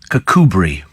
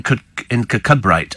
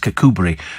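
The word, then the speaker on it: Kirkcudbright: uh cbright in dump free and Galloway is pronounced cbri I remember that because it appeared on a Victoria Woods sketch and he said over in kabite and she said it's actually pronounced cbri and somebody said but she wouldn't know that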